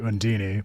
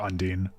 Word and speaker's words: Undine: So, like, Sheena will say Undini, but if you go back to how Tales of Fantasia was localized, Klaus calls her Undine.